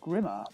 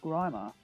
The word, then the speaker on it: Grimer: He said something about that quite a few years ago, actually, because I always thought it was pronounced Grimmer, but no, it is actually pronounced Grimer, which is a bit